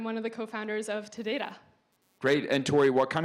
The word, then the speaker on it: Todata: I typically say Todata, but the origin of the name is Tada and data or data, depending how you pronounce that word.